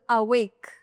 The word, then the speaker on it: avec: Remember carefully the consonants here, C R F and L. If these letters are coming at the end of a word, they're always pronounced. Always pronounced. Right? For example, avec.